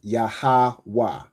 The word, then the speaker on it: Yahweh: So it's like saying Y-A-H. Okay, the A drops, the A part drops off from the second letter, right? So the letters are Ya, Ha, Wa, and Ha, but you pronounce it as Yahweh, right?